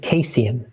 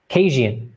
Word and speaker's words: Kasian: Name is pronounced Kasian, as in Asian. Kasian.